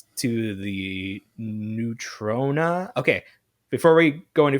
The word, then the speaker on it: Neutrona: So it's Neutrona, not Neutrino, which I think we are too used to the characters from Ninja Turtles cartoon, the aliens, the neutrinos or whatever. I mean, I think I've always pronounced it neutrino. Yeah. So, but it ends in an A, so it's Neutrona.